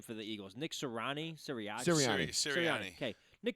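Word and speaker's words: Sirianni: say the coach's name for the Eagles Nick serrani Syria okay Nick siriani at halftime um I'll I'll see if I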